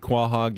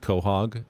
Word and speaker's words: quahog: Even though Rosie pronounces it quahog and white men can't jump. It's actually pronounced kohhog.